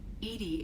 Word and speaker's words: EDI: a specific inquiry why are you named Edy Edy is the phonetic pronunciation of e di that is an acronym